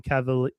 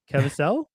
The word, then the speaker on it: Caviezel: Mira Sorvino, Billy Camp, and Jim Caviezel. How do you pronounce his last name? Caviezel?